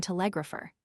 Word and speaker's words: telegrapher: There are, again, pianist primarily and telegrapher. The English accent the first syllable of each, we commonly accent the second.